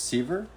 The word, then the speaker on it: Sever: I think I thought your name was sever it's Siever Siver Siever Siever yeah yeah people always but it's spelled sever like you suffer a limb right um I guess s-e-v-e-r yeah but I always liken it to see her from growing pains in the 80s yeah their last name